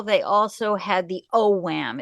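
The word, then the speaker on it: Ogham: they also had the O Wham it's spelled o g h a m o Wham and they had the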